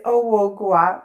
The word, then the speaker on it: Ohouo Goa: And with me today, Ohouo Goa. I'm sorry if I mispronounced your name. I hope it was okay. It was almost there, but it's okay. It's Ohouo Goa.